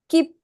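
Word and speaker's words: きっぷ: the first kind key you have a syllabic stop and what is the next one here p p p p u right P so it's h with a circle on the top gets it gets the P sound so P so how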